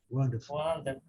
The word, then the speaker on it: wonderful: Aqui, ninguém está vendo R aqui, mas aqui tem, tá vendo? Wonderful.